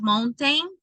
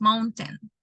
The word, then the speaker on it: mountain: Because it's not mountain, it's mountain for them, or the way that they pronounce that.